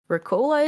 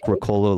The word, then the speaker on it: Ricola: important very similar to you said Ricola is how you say it yes yeah I mean I I think that's like Ricolo left like an American accent but okay yeah yeah